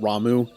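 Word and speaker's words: Ramuh: Lord Rama I know in this game they pronounce it ramu I say Rama it's like me saying Titus instead of Titus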